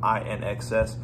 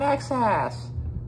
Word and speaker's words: INXS: i slaughtered their name i think i was calling them inxs somebody's like it's pronouncing access okay whoa with that